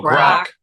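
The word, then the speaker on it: Grok: I don't know how to pronounce this, but I was told something about G R O K. Oh, rock.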